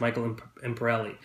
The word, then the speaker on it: Michael Imperioli: Michael, Christopher from The Sopranos, Michael Imperioli, I believe it is pronounced.